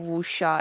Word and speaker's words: wuxia: That's Oh how yeah, you pronounce it, right? yeah, Okay. wuxia.